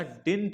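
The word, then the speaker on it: didn't: डिड not look right डिड नॉट या डिंट कहते हैं इसको डिंट कहते हैं ये डी होता है silent डिंट look right right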